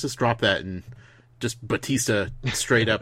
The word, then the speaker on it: Batista: me a GIS ta drop the you and like the the the heavy pronunciation and just made it straight up Batista gotcha like he's he